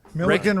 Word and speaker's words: Milliken: Milliken rhymes with Billiken.